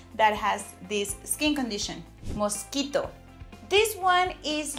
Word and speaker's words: mosquito: So same word in English, but we don't say mosquito. We say mosquito.